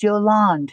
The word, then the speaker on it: Yolande: No A, the E is silent, so it is Yolande.